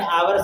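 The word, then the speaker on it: hour: आवर बोलते हैं इसे एच साइलेंट होता है एच ओ यू आर ठीक ठीक है जी एच नहीं बोला जाता है ना इसलिए आवर आवर अ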